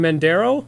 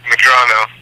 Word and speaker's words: Medrano: I just want to pronounce your last name, Mendero. Is that correct? No, close. That was good. Medrano. There you go.